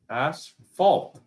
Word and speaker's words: asphalt: We pronounce the PH as an F, so but you guys don't. You ignore it completely.